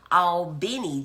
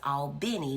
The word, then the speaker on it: Albany: all the way from Al Benny Georgia that's Albany for people who've not been to Georgia it spelled the same as uh the place in New York but it's all Benny when you're talking about Georgia thank you for bringing